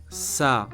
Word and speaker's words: ça: First word is ça, which means it or that. Very useful word. Listen again and repeat 3 times. Ça, ça, ça.